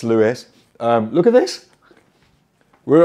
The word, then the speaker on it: St. Louis: Welcome to St. Louis. Apparently you do pronounce the S. We actually Googled it before we started the video, and Google said it was Louis, but it's Louis.